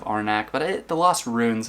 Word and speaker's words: Arnak: is a game that I prefer to mispronounce the title of it and it is the Lost Runes of our neck it's the last ruins of arnach but it the Lost